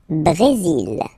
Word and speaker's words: Brésil: Le Brésil. Le Brésil. Okay, you will pronounce the final L here. And then remember, accent aigu goes like E. Bré. Brésil. Le Brésil.